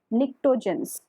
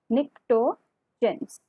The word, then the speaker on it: pnictogens: They are also known as pnictogens. Okay. They are also known as T is silent here, pnictogens.